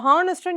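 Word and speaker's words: honest: Okay, so ஹானஸ்ட்டும் நீங்கள் pronounce பண்ணும்போது எப்படி பண்ணுவோம்? ஹான்னு பண்ணுவோம். எச்சுங்கிறது சைலண்டில் வந்துடும்.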